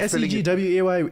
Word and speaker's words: segue: I think SEGWAY is the motorbike.